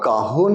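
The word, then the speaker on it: Cajón: আচ্ছা, কাহন is basically spelled as ক্যাজন, CAJON, বাট যেহেতু এটা স্প্যানিশ বা সাউথ আমেরিকান মার্কেটে বেশি প্রচলিত, ওদের ওখানে যেটা বেসিক্যালি সাইলেন্ট, যেটাকে এইচ বলা হয়, তাই তো?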